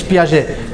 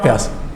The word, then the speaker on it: Piaget: Yes, it's Piaget. Frenchman. Hey, not Piaget. It's a Frenchman.